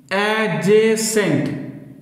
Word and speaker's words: adjacent: কথা মনে রাখতে হবে এখানে ডি সাইলেন্ট থাকে এজে সেন্ট এই উচ্চারণ হবে তাহলে এই